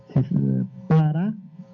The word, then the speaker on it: paranomon: Quem quiser anotar, é grafê, são duas palavras, grafê com PH, E no final, e a segunda palavra é bem como se fala, paranomon, P-A-R-A-N-O, Paranomon, Paranomon.